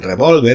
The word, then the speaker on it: revólver: veía, en aparecía y con tilde en revólver, en la segunda sílaba, con una coma tras siempre, como he explicado antes, ¿no?